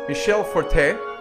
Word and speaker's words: Michel Fortin: to have Michel Fortin the french-canadian actual pronunciation is Michele Forte he is one of